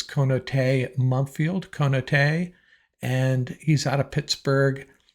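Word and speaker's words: Konata Mumpfield: Now, I've heard different mispronunciations on this. I believe it is Konate Mumpfield, and he's out of Pittsburgh.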